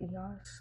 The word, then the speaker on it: Eos: Car is a Volkswagen, a VW EOS, like EOS lip balm, I like to say, even though they pronounce it the EOS.